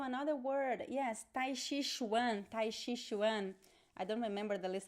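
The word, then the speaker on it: tai chi chuan: elaborate okay so another word yes taishi one tai shishwan i don't remember the list of the words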